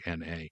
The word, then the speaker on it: Kosmyna: It's like my last name, Kosmina, Kosmyna. They see a Y, they can't pronounce it, they can't say it, they can't spell.